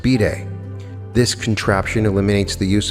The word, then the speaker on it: bidet: With the third example, the privacy of the bathroom has been invaded, this time by a device by the unlikely name of bidet, pronounced bidet.